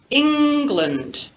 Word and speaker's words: England: So listen to the difference between land, England. Listen to the difference between land and lund, as in the word England. So we have an unstressed syllable, the second syllable of the word England, and the unstressed vowel schwa.